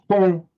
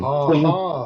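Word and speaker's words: 空: This is the Chinese character for, and it's pronounced Kong in modern Mandarin. Kong, meaning empty.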